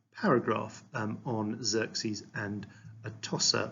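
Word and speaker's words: Atossa: um on Xerxes and a tossa or toosha I think is how it's pronounced to avoid um in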